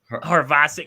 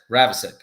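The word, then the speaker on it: Havrisik: Let's just go Ravasic. Then the H is silent. That sounds right. The H is silent, doesn't it?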